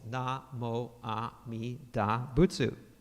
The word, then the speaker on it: Namo Amida Butsu: You will respond by pronouncing the syllables na, mo, a, mi, da, butsu, which correspond to the 6 Chinese characters shown here.